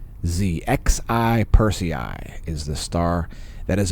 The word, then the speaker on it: Xi Persei: It is being illuminated by Z Persei. Z Persei is the star there, if you want to go look at it yourself. And yes, it is spelled like the Prime Minister of China. Xi Persei is the star that